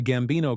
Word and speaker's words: Gambino: The Gambino crime family, pronounced Gambino, is an Italian-American mafia crime family,